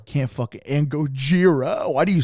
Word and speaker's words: Gojira: Yeah, and Gojira. Can't fucking and Gojira. Why do you say it like that? Because that's how you pronounce it in Japanese.